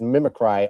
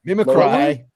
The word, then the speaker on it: mimicry: AI is his mimic cry of God's omniscience. Wait, mimicry. Mimikry. Mimikry. You put the emphasis on the wrong sal there, Nico.